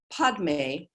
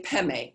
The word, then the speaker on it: Padme: And sometimes you see it written Om Mani Padme Hung. The Tibetans usually say Peme.